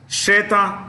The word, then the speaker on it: Srettha: Okay, Thai new prime minister is Shreta Thavisin. I'll spell it SRETTHA, Shreta SRETTHA, Shreta Thavisin, THAVISIN, Tavishin, Shreta Tavisin.